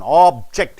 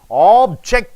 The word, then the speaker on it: object: Object, a thing. Object. When you stress on ject, it becomes objecting. You are stopping. Object, object.